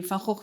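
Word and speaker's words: Van Gogh: Um, the Falhawk Museum, I'll pronounce it in the Dutch way, um, is really the center of expertise on the artist in the world.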